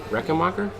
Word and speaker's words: Rechenmacher: name how do you say our last name reckon Walker yes tell the camera is that it that was right hi everyone this is and marker and they are on the T key with